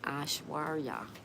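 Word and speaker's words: Aishwarya: The Creative Star says, you were pronouncing my name correctly. You can call me Ashwarya.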